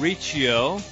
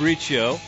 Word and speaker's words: Riccio: I am Riccio. Not Riccio anymore. I'm correcting my name. I've been saying it wrong. Riccio, here along with Matt Allen.